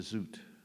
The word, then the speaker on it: Zoet: I mean, that's why I liked 1,000 Autumns of Jacob de Zoet. Rhymes with Zoot Suit.